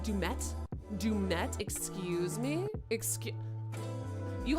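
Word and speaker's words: Du'Met: I thought was weird oh his name is Dume but you say that dumette dumette excuse me excuse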